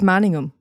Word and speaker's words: Manningham: Am I saying Manningham? Am I pronouncing the ham part too severely? Manningham. It's Manningham. Yeah. Not Manningham.